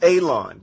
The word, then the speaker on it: Alon: My name is Alon, pronounced like you're going to cut grass, like you're going to cut a lawn.